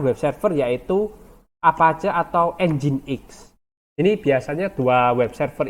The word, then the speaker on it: nginx: Apache atau enzim X ini bacanya engine.exe Ya bukan nginx ya dulu saya patuh kuliah pertama kuliah-kuliah tuh menjeratnya ini adalah ngingsep ternyata ini adalah enzim X kayak mesin ya pakai